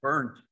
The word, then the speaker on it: Berndt: is Nick Berndt, which I would pronounce Berndt, but it's Berndt for everybody, he says, which is a kind of an unfortunate name for a person who works for the U.S.